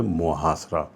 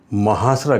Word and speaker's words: محاصرہ: کو نوٹ فرما لیجئے۔ اس کا درست تلفظ ہے محاصرہ، تو محاصرہ کہنا غلط ہے، تو درست لفظ ہوا محاصرہ۔ اس کے ساتھ ہی